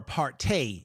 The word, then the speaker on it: apartheid: or apartheid is the proper pronunciation.